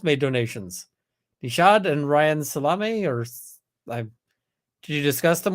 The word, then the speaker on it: Salame: Nishad and Ryan Salame, or did you discuss them with Mr. Salame? He pronounces it Salam, so Mr. Salam.